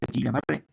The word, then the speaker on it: Guillain-Barré: El síndrome de Guillain-Barré, aquí dice Guillain-Barré, pero se pronuncia Guillain-Barré.